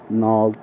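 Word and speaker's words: know: এবার বলবো যেমন ধরুন কিছু ক্ষেত্রে মিউট থাকে কে নভ নভ নলেজ এই ধরনের শব্দে কে গুলো কিন্তু আমরা ইউজ করি না এগুলো মিউট থাকে ঠিক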